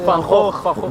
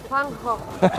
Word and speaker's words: Van Gogh: Van Gogh. Van Gogh. Repítelo, Alejandro, por favor. Van Gogh.